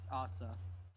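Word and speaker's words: アーサー: not Japanese nice yeah the Japanese they don't know any RS or th So when you say it in Japanese it's ASA I see that's why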